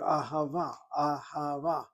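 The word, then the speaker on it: אהבה: And again, the word ahava, sounds like a word which has three ah sounds to it.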